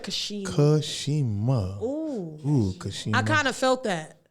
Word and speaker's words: Cashema: that again he said he said my name with all the syllables say it again he said Kashima I kind of felt